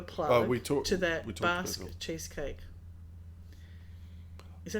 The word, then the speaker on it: Basque: Basque cheesecake. Is that how you pronounce it? Yeah. Bask.